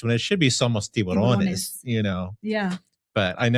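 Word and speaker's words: tiburón: Borrón en Tiburon. español. Tiburon.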